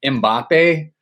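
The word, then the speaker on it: Mbappé: thing on our Instagram how to say Mbappe. And you're not even supposed to pronounce the M or whatever.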